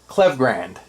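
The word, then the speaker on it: Klevgrand: butcher it because I it's a tongue twister for me Kev clev clevgrand that's how you say it clever Grand so I butcher that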